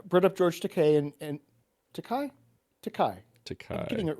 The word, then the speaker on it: Takei: so the reason I brought up George Takei and Takai, Takai.